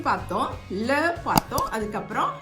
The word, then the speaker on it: les: இங்கே S pronounce பண்ண மாட்டோம், லே போம் அப்படின்னு தான் சொல்லுவோம். ஆனால் வந்து அந்த லேவை வச்சு அது நம்ம ப்ளூரல் அப்படின்னு சொல்லிட்டு தெரிஞ்சுக்கலாம்.